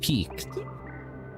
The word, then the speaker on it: piqued: The word, it's pronounced peaked, but it's spelled like this.